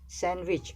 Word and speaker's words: sandwich: Sandwich, we don't pronounce D.